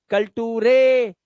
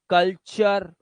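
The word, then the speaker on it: culture: अर जैसे नेचर अब नटूरे मत कर नटू रे फटूरे कलटूरे लकटूरे ना अर अर लेक्चर क्योंकि टी यू आर ई च की आवाज निकालता है टी चर कल्चर हां फ्यूचर नेचर ठीक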